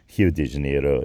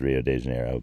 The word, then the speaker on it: Rio de Janeiro: of s Pao and you've probably heard of H de Janeiro you might have heard it as Rio de Janeiro but that's I'm I'm going for the brazzilian